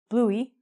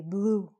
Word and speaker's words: blue: don't say it so we don't say bluey you just say blue so in this how many syllables are there how many vowel sounds - fine so we just say blue the E's silent okay ah my favorite